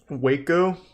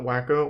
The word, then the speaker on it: Waco: very much about it wakeo is that what it's called that's how you say it not wacko whatever it doesn't matter did